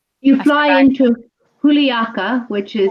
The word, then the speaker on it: Juliaca: So here are some beautiful slides about Puno and Juliaca, which are the main cities that you actually fly in from Lima to I guess Puno, right, Linda?